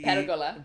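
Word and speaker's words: Pérgola: La Pergola, that the Pergola. Pergola, Pergola. that The accent's on the e at the beginning. Pergola, I'm not saying I'm saying it right, but you're supposed to put the accent on the beginning.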